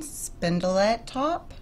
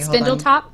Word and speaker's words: Spindletop: the brewery in Houston spindle atop I think I'm saying it wrong I'm so sorry Spindletop Spindletop no yes yes that's where it